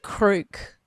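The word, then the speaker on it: Kreuk: Because I always looked at her last name in the title and I was like, Crouch? Yeah. Crook.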